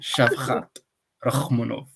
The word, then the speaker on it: Shavkat Rakhmonov: Shavkat Rakhmonov. That's how you pronounce it.